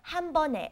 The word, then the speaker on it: 한 번에: Okay, 한 번 is one time, 에, 한 번에. And you pronounce it 네, not 에, because of the 받침, the second consonant under 한 번.